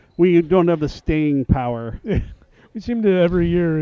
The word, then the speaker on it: PAO: And for those of you who we've all questioned it for years, we have been officially reprimanded and told PAO is pronounced POW.